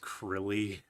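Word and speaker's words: Krile: It's pronounced Krilly.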